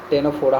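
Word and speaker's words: Ctenophora: देता हूं phylum टेनोफोरा टेनोफोरा टी ई एन ओ पी एच ओ आर ए और सी silent है ठीक है टेनोफोरा हो अब हम लोग इसको कैसे बोल सकते हैं?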